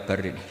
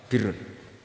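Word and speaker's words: بِرّ: Ya kalau di isim fa'ilnya umumnya guru-guru kita baca barin, tapi untuk masdarnya untuk kebaikan bacanya apa? Birun. Nanti kamu protes, oh barun itu daratan Gus, kalau birun itu kebaikan. Aku itu macaku kamus luwih suwi bocah kok sembrono.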